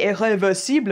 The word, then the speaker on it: Irréversible: C'est prononcé irréversible en français.